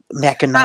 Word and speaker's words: Mackinac: Mackinac City is N-A-C. And Mackinac Island is N-A-W. But they're both pronounced Mackinac.